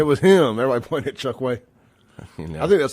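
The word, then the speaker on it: Chokwe: him everybody point it Chuck way I think that's the first time I've ever said his name the way he pronounces it I thought it was always chalk way let the record reflect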